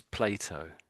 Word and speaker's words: Plato: So this we normally say this is Plato. We say Plato in English.